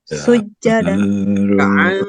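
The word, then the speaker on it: ركعا: Alal kuffari ruhama'u bainahum tarahum ruk'as sujada Ruka'an ditahan ainnya.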